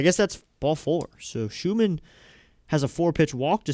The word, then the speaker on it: Schumann: So, now five consecutive balls thrown by Seth Schumann. I like saying that name. Such a satisfying name, Schumann. Seth Schumann. Or it's Shuman and I've been saying it wrong, but I think it's Schumann.